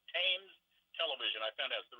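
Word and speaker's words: Thames: river pronounced with the t is hard hard pronunciation it's tames television I found out the river tames they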